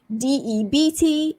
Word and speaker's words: debt: DEBT, silent B, debt. Debt. You're in a lot of debt. I need to pay my debt. So you say DET basically, silent B.